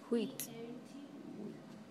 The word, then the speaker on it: wheat: Wheat. Why is it wheat? Wheat. Because the Why is it wheat? A is silent.